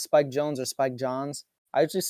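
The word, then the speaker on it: Jonze: spike jones or spike john's i'd just say jones it's jones is it it's i look i looked up something it said it's pronounced jones okay yeah i don't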